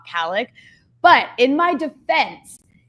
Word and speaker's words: Khalek: But in my defense, they can't say the kha in English. So I've been trying to help the whites by saying Khalek my whole life, and now it's the only way I know how to say it.